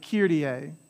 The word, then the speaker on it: Kyrie: have an accent there because there's three vowels y i and e so there are three syllables here the a there's three syllables there kir ree hey kirti